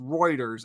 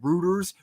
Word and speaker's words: Reuters: Uh, anyways, uh, so actually, um, so funny note, it's, uh, pronounced Reuters.